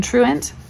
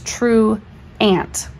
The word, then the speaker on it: truant: well like in truant we don't say this true ant we say truant or truant like an uh or an i sound that's because it is the and I forgot it's the first syllable that's accented this is unaccented so